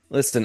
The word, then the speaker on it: listen: ND listen uh you know positives uh did you just pronounce the T and listen list list listen te